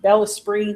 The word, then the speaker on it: Bellesprit: It's spelled BELLESPRIT, like El Sprit. Yeah. It's not spirit. No, spell it again. BELLESPRIT, Bella Spree magazine, or Google it and it'll come up too.